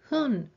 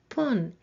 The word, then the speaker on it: 分: The counter for minute is hun or pun, and its pronunciation change depending on the number that comes before it.